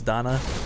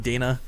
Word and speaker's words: Dana: a zerg player's name I know it's Donna I keep trying to say Donna in my brain but I'm I'm reading Dana cuz it's a I